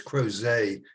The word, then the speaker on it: Crozet: And for those who may not have been there before, that the city name there for the show was Crozet. That's how they pronounce it, and that's about 14 miles from Charlottesville, where they have spring and fall shows, outdoor shows.